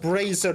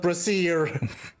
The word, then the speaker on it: brazier: a symbol or brazier it isn't i and e there they are pronounced differently in this case brazer it's supposed to pronounced bracer not brassiere oh well uh yeah